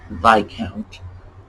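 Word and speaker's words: viscount: the queen's grandchildren so just remember the s is silent that's all it's by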